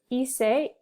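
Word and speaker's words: hizo: irregular so it's ise you don't pronounce the h iso is were you right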